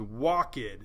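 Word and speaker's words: walkèd: So if you ever see an accent mark over the suffix ed, you'd pronounce it. So walked, which is 1 syllable, becomes walked, 2 syllables.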